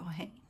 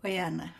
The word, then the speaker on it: Oyana: Over to you, Oane. Hi everyone. Oh, don't worry. You got your name wrong again. Sorry. Oyana. Oh, thank you. I don't expect people to know my name. Well, the first second time,